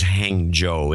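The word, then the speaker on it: Hangzhou: in China and uh and the pronunciation is hang Joe even though when you look at it you go yeah there's a lot of H and G's and U's in it yeah hang Jo I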